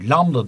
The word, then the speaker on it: lambda: çukur arasındaki mesafe şöyle biraz garip bir sembolle gösteriyor lambda diye okunuyordu bu Bu dalga boyu